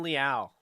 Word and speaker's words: Leal: of texas a m de marvin liao there we go not to marvin leal like i was saying